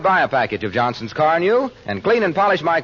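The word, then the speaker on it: Carnu: If I were you, I'd buy a package of Johnson's Car New and clean and polish my car this week. You won't regret it. It's spelled C-A-R-N-U, Johnson's Car New.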